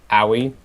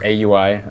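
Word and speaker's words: Aui_2000: And then on the other side we have farming Potom, which is played by Aoi. Or AUI, I think is the correct way to say it, 2000.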